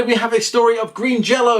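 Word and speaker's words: Green Jellÿ: And finally, we have a story of Green Jello. Yes, I know it's spelt with a Y, but it is pronounced Green Jello.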